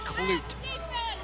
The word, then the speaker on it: Clute: and they've really limit Clute and I do apologize for saying his last name wrong not clut Clute so the Warriors are